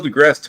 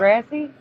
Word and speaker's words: deGrasse: It is deGrasse, right? Yeah. Not Degrassi? No, deGrasse. Neil deGrasse Tyson. The I is silent? Degrassi was a TV show. It's supposed to be an E at the end.